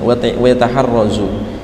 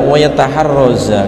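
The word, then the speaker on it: ويتحرزَ: Wa yataharrazu itu bacanya yang benar adalah wa yataharraza, karena itu atof dari wa yambaghi li ahlil ilmi.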